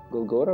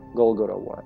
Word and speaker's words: Golgotha: is short for golgotha golgotha right that's how you say it in english golgotha virus golgotha virus whatever